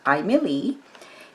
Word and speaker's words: Aimeili: so again this is the name is pronounced Emily and the two colors